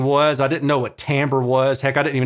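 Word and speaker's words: timbre: I didn't know what tamber was heck I didn't even know how to pronounce tamber until like two or three years ago it's not Timber it's tamber but it looks really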